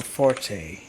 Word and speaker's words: forte: a musical symbol what I'm gonna go for Forte yeah Forte I can't do the E with